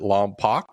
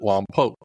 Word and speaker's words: Lompoc: Is it Lompoc or is it Lompoc? The locals pronounce it Lompoc.